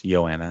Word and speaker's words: Joanna: So It's Joanna. Joanna. Sure. Why is it? It's a soft J. It's like jogging. Silent Because J. she's from Poland. That's how they say it.